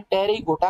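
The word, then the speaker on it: Pterygota: पास wings होते हैं उन्हें टिहरी गोटा कहा जाता है इसमें पीस साइलेंट है और जैसे ऐसे इंसेक्ट्स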